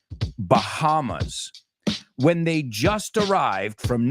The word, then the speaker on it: Bahamas: We don't say Bahamas. La H no es muda. We say Bahamas.